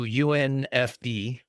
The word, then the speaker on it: UNFD: unfornicated was going to get shortened to UNFD which you know unf is how it's pronounced and I would make up some very familyfriendly uh meaning behind the acronym.